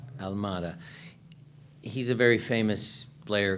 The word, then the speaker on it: Almada: How do you pronounce his last name? Almada.